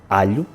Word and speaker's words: alho: We pronounce a short /ʎ/: alho; and in Italian it is pronounced a long /ʎʎ/: aglio KITCHEN You got it wrong.